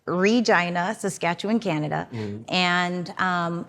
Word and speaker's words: Regina: Saskatchewan Canada and yes I said it right Regina Saskatchewan Canada and um It's a Small Town